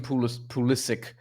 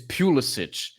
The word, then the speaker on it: Pulisic: That's the right way to say, because like, it's like with Christian Pulisic, it's Pulisic, but they call him Pulisic because he's American, even though his name is Croatian.